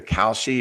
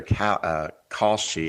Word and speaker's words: Kalshi: And it's either Kalshi or Kalshi, I'm not sure how to pronounce it, is the Kalshi. largest. What is it? Kalshi? Kalshi. It sounds a little bit like Kalshi, cow.